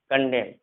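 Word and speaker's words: condemn: देखो एन जो है जब भी एम के बाद होगा, यानी एम के बाद अगर एन होगा एम के बाद, तो एन हमेशा साइलेंट होता है। जैसे यहाँ पर हम पढ़ेंगे autumn, कॉलम, कंडेम, haem, dam, यहाँ एम के बाद एन है, यानी एन यहाँ पर साइलेंट होगा।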